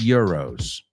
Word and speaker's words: euros: I have 50 euros. Es como Y, no, I-E-R, euros.